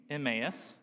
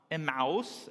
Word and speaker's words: Emmaus: story from which we get our Church's name Emmaus not imaus as most reporters typically pronounce it Luke treats us to a vivid